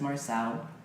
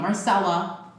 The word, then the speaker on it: Marcell: my resume and saying my name is marcell not Marcela I get that a lot myself and here's